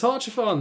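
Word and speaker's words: Haurchefant: Ah, it's Horchafon. That's how he pronounced his name.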